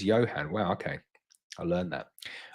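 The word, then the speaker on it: Ioan: Bob says, Yoan is how you say his name. Okay. Oh wow. The I-O-A-N is Johan.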